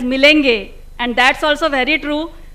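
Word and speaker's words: Mélange: Melange. This is a French word, but today I am hearing the pronunciation as Melange, and that's also very true considering the gathering today.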